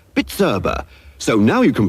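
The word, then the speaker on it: Bizerba: price labeling Machinery is bitera B I erba pronounced bitera so now you can pronounce it give your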